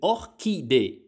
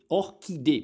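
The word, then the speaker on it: orchidée: то есть орхидея по-французски будет ох ки Ох кий Потому что по-французски ха не существует звука во французском языке звука ха не существует и французы его напрочь не выговаривают поэтому они произносят Ох ки в словах которые имеют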